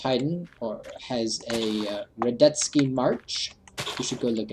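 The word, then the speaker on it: Radetzky: to count ysf um Von I think it's count ysf retki Von reddits is how it's pronounced if you ever listened to classical music I believe it's hidden or has a redet ski March you should go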